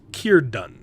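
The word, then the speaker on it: Círdan: It's pronounced Kirdun. Kierdan, huh?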